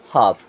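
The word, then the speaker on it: half: होता है बातचीत करना एच ए एल एफ यहां पर एल साइलेंट तो क्या हो जाएगा हाफ और हाफ मीस होता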